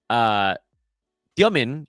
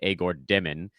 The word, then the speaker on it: Demin: Demin, as he pronounces his name, and I realize that's hard to do long-term on a podcast, and it's why broadcasters just call him Igor Demin. That is the Americanized version, is shooting 39% from the field.